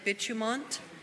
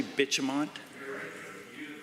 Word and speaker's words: Bitumont: Valley gas plant, Green Hill mine site, and Bitumont, the cost in 2023-24 was higher than originally anticipated. The Honourable Member. Did you say Bitumont?